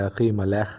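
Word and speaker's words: אחימלך: اخی ملک جس کا نام کا مطلب ہے اخی ملح، جس کو عبرانی میں ٹھیک طرح اس کا تلفظ اس طرح ہے پروننسیشن، اس کا مطلب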